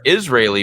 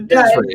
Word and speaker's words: Disraeli: saying Disraeli freeway or Israeli freeway. I'm like, no, it's the Disraeli. Yeah, it's spelled Israeli, but with a D at the front.